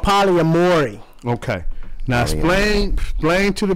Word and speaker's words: polyamory: It's called polygamory. And no, pronounce it again. I didn't say not it right. gamory. No, ain't no G in that. Polyamory.